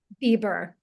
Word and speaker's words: Bieber: How do you pronounce it? Is it Bieber? Bieber. Bieber. Okay.